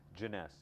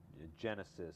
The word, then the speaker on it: Jeunesse: this is a joke all the time is pronouncing the name of the company everything else falls in place it's easy jeunesse you know people i've heard people say genesis or jonas jones it's hard to pronounce it's hard to